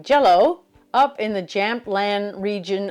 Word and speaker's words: Gällö: We just landed in a tiny Swedish town named I would say Gallow, but I'm told it's pronounced more like jello up in the Jampand